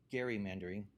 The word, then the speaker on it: gerrymandering: and and tell me the correct pronunciation is Gary Mandering. And he went to explain that the uh the politician who it's named after was first name was Gary and he was redrawing a district to his advantage.